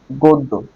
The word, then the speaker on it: গদ্য: গ দয় জ ফলা গদ্য এটার উচ্চারণ কি গোদ্দ্য গ এর পরে গ দ এর সাথে জ ফলা আছে তার মানে দ ডাবল হবে গো দ্য গদ্দ্য এবার যারা বই এর